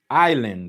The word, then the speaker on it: island: Island. Island. Right. Island. Island. So island. Okay. Island. Okay. Island. Okay. Island. Okay. Island. Which means uh the S is silent.